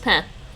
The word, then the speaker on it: pain: italian yeah exactly well the french word is pen p-a-i-n spelled like pain pronounced pen but most likely it's